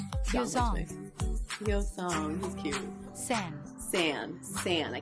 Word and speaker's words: Yeosang: The group consists of Hongjoong, Seonghwa, Yunho, who right now looks nothing like Yeosang, Yeosang, he's cute.